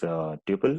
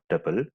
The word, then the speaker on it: tuple: You can pronounce it as tuple or tuple, set, and dictionary.